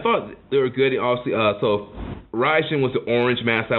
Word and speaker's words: Raijin: can always remember because ridin rhymes with riding we're on work on